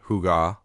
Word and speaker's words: hygge: Fundamentally, Hi, pronounced with a soft huga represents the intentional cultivation of comfort, contentment, and overall well-being through the mindful appreciation of life's unpretentious pleasures.